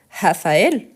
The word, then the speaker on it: Raphaël: On a encore des noms, comme par exemple Raphaël. Donc, on doit bien prononcer. Pourquoi? Parce qu'il y a le tréma. Donc, qu'est-ce que le tréma? Il sert à quoi? Pour bien prononcer la voyelle qui porte le tréma.